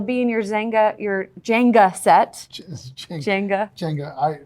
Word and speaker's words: Jenga: Jenga. He still gives me a hard time about not being able to pronounce it. I just said Zenga.